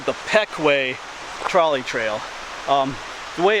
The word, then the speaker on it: Pequea: me but once again this is called the Peck way trolley trail the way it's spelled you might want to call it the pet quia charlie trail but Stu Peck way trolley trail